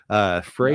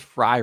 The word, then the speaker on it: Frey: And apparently it is Frey Ranch. I always thought it was Fry Ranch Oh. because I know a guy named Matt Fry who is spelled that way. Okay, gotcha. But it is apparently Frey Ranch.